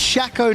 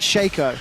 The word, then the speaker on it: Shaco: get them down it's it's pronounced shackle not shaco that's how i read